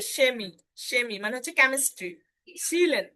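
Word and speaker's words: Chemie: এবং সেহা যদি কোনো শব্দের শুরুতে থাকে, তাহলেও কিন্তু তার উচ্চারণটা তালবীয় স এর মতো হয়। যেমন এই যে সেমি, সেমি মানে হচ্ছে কেমিস্ট্রি।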